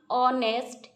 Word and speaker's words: honest: इधर देखो an hour, HOUR लिखा है, लेकिन प्रोनाउंसिएशन अ आती है। An hour, an ऑनेस्ट, HONEST, ऑनेस्ट, that इधर क्या है ना, H साइलेंट है।